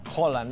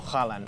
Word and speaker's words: Haaland: Por cierto, es Haaland, las dos As. Tenemos un comentario en YouTube que nos decía: soy noruego y se pronuncia Haaland, no Haaland, ¿vale?